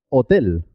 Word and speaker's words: hotel: no tiene ningún sonido es muda por ejemplo hotel hotel halcón cohete hospital la h no suena es muda de la h hay